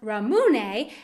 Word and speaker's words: ramune: It's pronounced ramune, and it is a Japanese flavor of soda and also a popular candy flavor.